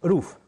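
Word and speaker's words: rough: On commence par plusieurs roues, c'est-à-dire, ça s'écrit roue, R-O-U-G-H, comme vous le voyez sur l'écran, mais ça se prononce roof en anglais.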